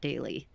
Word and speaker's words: Daley: Oh, well, I'm a little biased because my youngest is named Jack Daley. Okay. So, and spelled like Haley.